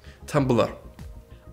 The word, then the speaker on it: Tumblr: Is it pronounced Tumblr? Yes. How do you say it with the E missing? Tumblr.